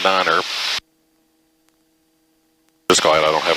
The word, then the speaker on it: niner: read the phonetic thing it says to pronounce it tree in five and niner just glad i don't